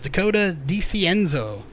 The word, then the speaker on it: Dakota DiCienzo: That is Dakota DiCienzo. So that is how that is pronounced.